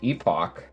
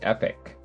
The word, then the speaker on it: Epoch: used to pronounce it epoch but it's actually pronounced epic just recently learned that